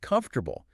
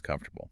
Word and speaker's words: comfortable: Think of comfortable. You're trained to hear four clear syllables. Comfortable. But when we say it quickly, that middle part just collapses. It becomes comfortable.